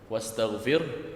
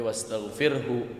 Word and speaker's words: وَاسْتَغْفِرْهُ: Kemudian coba di ayat ketiganya jangan diberhentikan, tapi haknya dibaca hu. Wastaghfir, tapi wastaghfirhu innahu. Begini bacanya.